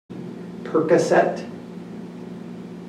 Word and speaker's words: Percocet: And here are a few examples of helping the learner with their pronunciation and vocabulary. Percocet.